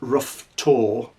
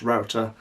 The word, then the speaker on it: Roughtor: a landscape of router it looks like rough tour but it's actually pronounced router as you saw from